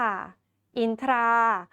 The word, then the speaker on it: อินทรา: คะ ต่อ ไป ค่ะ คำ ว่า อินทรา ค่ะ อินทรา ก็ ไม่ อ่าน ออก เสียง ท ทหาร กับ ร เรือ เป็น ซ โซ่ นะ คะ ยัง คง อ่าน ว่า รา นั่น เอง นะ คะ และ